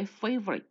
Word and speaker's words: favorite: 첫 번째 favorite. 이거 F 발음이에요.